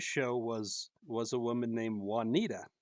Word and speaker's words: Juanita: read the clue, and he pronounced it Juanita. and Olivia and Olivia did this, like, it was like probably the best timing ever. This pause, and she goes, "It's pronounced Juanita," and it brought the house down.